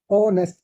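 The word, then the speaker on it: honest: जाता है engineer engineer ओनेस एच ओ एन ई एस टी ओ यहां पे एच साइलेंट है इसको याद रखिए ओनेस ईमानदार ठीक है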